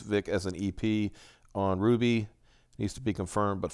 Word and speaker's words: RWBY: Ruby? It's kind of supposed to be Ruby.